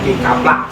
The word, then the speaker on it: kicupluck: Jadi bacanya kikaplak gitu kan. Nah, kaplak sebenarnya.